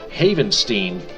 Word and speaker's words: Havenstein: Havenstein, correction of pronunciation, Havenstein played an integral part